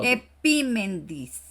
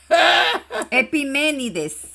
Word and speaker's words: Epiménides: Eh, lee, pronúncia, epimendis. Epiménides.